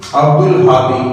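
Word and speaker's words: عبد الهادي: ऐसे ही आगे देखेंगे अब्दुल हादी अब हे कमरी रूप में से है य पर हे तो हमने जब अब्दुल हादी है तो उसका लाम पढ़ जाएगा य पर हम गलती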